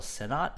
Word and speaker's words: Sennott: Rachel Sennott, is that how you say her name?